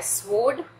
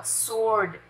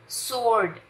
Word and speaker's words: sword: स्वोर्ड, स्वोर्ड नहीं, ये स्वोर्ड नहीं है, this is अ सोर्ड, सोर्ड, सोर्ड, ठीक है।